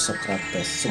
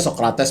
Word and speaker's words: Socrates: ada filsuf Yunani itu namanya socrates nulisnya sokrates bacanya sokrat biar keren ya oke socrat dia lahir